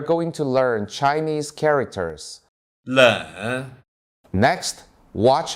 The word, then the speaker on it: 冷: 冷 Next, watch how I pronounce it.